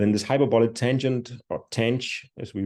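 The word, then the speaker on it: tanh: sigmoid function and then this hyperbolic tangent or Tang as we pronounce it is basically defined as taking this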